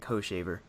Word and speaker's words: Hochevar: I love that pronunciation, Hochevar. Most people prefer the classic Hoshaver, but I like yours better. If it's Hoshaver, why is it spelled with a CH? Because the I guess Hochaver, if you want to say it firmly.